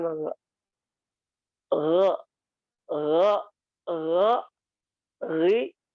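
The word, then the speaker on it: غ: Jadi pengucapan gha yang benar itu dia datar sebenarnya.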